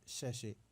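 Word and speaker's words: sachet: जो अगला वर्ड है, ये है सैशे। कुछ लोग इसको सैचेट पढ़ते हैं।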